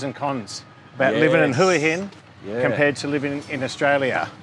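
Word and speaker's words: Hua Hin: living and huin yeah how do you pronounce it oh depends who I'm talking to why who generally it's hin for me um you can ask a local and you'll get two or three different variations so as long as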